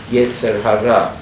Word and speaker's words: yetzer hara: the Yiddish schism are the Yasuhara the sort colloquial pronunciation of yetzer hara which literally means they